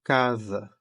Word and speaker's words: casa: Basta lembrar de casa, certo? Que se escreve com S, mas tem som de Z.